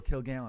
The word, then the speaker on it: Kilgallon: and they'll be like what's your last name again you go kill Galen and they go and I go it's really easy to pronounce it's easy as hell